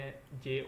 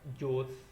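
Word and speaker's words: José: ये स्पेलिंग देख रहे हैं जे ओ एसई हमारे मुताबिक ये नाम बनता है जोस या जोजे ठीक हो गया लेकिन यह इसको बोलेंगे होजे यह जे को ए की आवाज निकालेंगे ठीक है हो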